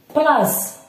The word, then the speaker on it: place: Place. P, la, s. Ok, place. Ok, هذا سينطق الحرف اس.